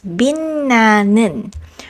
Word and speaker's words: 빛나는: The second word here is pronounced as 빛나는, which means shining. And while yes, it comes from the root word 빛, as we learned earlier, again we pronounce this one as 빛나는 because the second syllable again begins with the nasal sound n. So for ease of pronunciation, it became 빛나는.